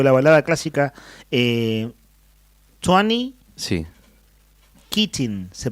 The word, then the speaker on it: Keating: Keating, se pronuncia.